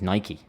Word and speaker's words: Nike: I think the actual correct pronunciation is Nike. Because it comes from the Greek god of speed, I think it is. So in England we say Nike. Nike. But the correct pronunciation should be Nike. Originally. Originally, Nike.